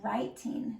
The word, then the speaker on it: writing: We have written, and this is writing. So the W is silent. When you have W-R together, the W is silent, and you just make the sound.